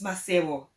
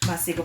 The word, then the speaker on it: Maseko: It's Maseko. It's like a silent K, but I don't know how to pronounce it. So I'm going to pronounce it the Shona way. I hope he doesn't get offended. Maseko, Patrick Maseko, how are you doing this morning?